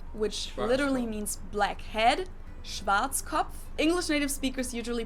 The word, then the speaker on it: Schwarzkopf: In German, we pronounce it Schwarzkopf, which literally means black head. Schwarzkopf.